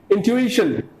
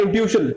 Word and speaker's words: intuition: fourth word is intuition intuition this is not intuition this is intuition so i have an